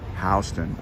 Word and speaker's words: Houston: it house tune and it actually had another you in the writing it was houston h-o-u-s-t-o-u-n over time the spelling warped into houston but they still pronounced it houston oh my god tom